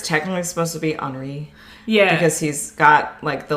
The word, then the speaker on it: Henri: But it's Henri. Yeah. Is how they spell it, which would be the French Henri.